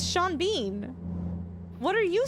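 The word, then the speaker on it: Sean Bean: Sean, it's Shawn Bean. What are you saying? What am I saying? They would pronounce duvet as dovet.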